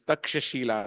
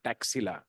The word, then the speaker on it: Takshashila: nalanda and let's understand it is takshashila not taxila as many foreigners are fond of pronouncing so this takshashila and